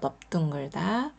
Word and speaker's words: 넓둥글다: 가지가 있는데요 아 그중에 첫 번째 너 둥글다는 글자에서이 글자에서 리을 받침이 소리가 나지 않고요 비읍 받침이 소리가납니다 자 요거 기억해 주시고 외워 주세요 넓둥글다 두 번째는 넓적하다 있니다